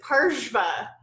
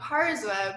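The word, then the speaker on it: pārśva: going through stuff and realized that parsma is parshva so for years I've been saying karza but it's it's actually harsh parshva yeah so that's the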